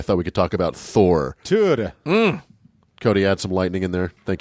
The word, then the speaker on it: Thor: I think it's pronounced Tur. It's pronounced a lot of things. Well, there's a lot of different, but yeah, you're absolutely right. Tur. And or Tor.